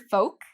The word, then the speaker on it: folk: he uses the word folk, which is a little bit more informal. So with the word folk, there's no L pronunciation, folk.